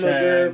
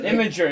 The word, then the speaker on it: Imgur: Imager. It's pronounced Imager. Imager. No, Anyways. how is it pronounced imager? It's just pronounced Why Imager. can't No, it's I not can't- because there's no second I. It's imgur.